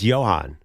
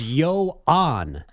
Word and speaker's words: Yoan: I don't think it's Johan. That's a baseball reference though. It's Yoan. Yeah. No, not not like Johan Santana, right? Like Y O N. Yan. Yoan. No H. Y O Oh, okay.